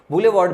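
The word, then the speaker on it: boulevard: Pronunciation कैसे होता है, इसका प्रोनाउंसिएशन होता है बुले, बुलेवार्ड।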